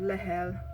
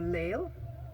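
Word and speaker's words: Lehel: 55 or thereabouts we have several names for pronunciation so we have another chieftain called lahel or lale there are two variations then another name chaba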